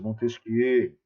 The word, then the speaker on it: Montesquieu: Montesquieu, o barão de Secondat, o Montesquieu já é francês, aí a gente vai ter que fazer a pronúncia do termo na pronúncia francesa, Montesquieu.